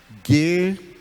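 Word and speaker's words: γῆ: Não importa com qual dos três acentos ela venha, ela sempre virá com um desses três acentos. Não importa, o som vai ser o mesmo.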